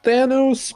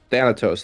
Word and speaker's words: Thanatos: I think it's Thanos, but it's the TH4. Thanatos. There we go.